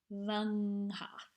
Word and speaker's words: fy nghath: up on the ngs, even though you would not pronounce n twice. You'd say fy nghath.